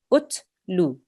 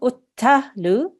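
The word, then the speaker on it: اتلوا: Utlu. Utlu. Utlu. Utlu. Okay, so not uttalu, it's just ut.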